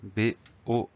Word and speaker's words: bord: Le mot suivant, c'est le mot bord, B-O-R-D. Et oui, on a une petite lettre muette à la fin.